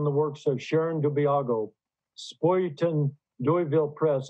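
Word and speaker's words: Spuyten Duyvil: works of Sharon Dubiago, Spoyton Doyville Press. Is that the way you pronounce that? I think so, yeah, Spoyton Doyville. It means spinning devil.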